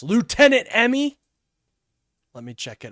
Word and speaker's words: lieutenant: Why is it lieutenant? Why do you guys say it like that? Lieutenant. There's no F there. A Lou. There's a Lou, but no left.